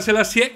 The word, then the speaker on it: Selassié: però sembrava la principessa selassiè con l'accento sulla e si sia avvicinata a